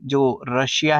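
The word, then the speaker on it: Czar: आपको पता है की जो रसिया है उसमें पहले जो जर है बोलने में हम जर कहते हैं और स्पेलिंग सी से शुरू होते हैं ठीक है जर जो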